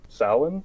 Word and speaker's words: Samhain: Samhain?